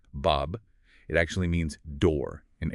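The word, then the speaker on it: باب: Like A said that's pronounced Bob.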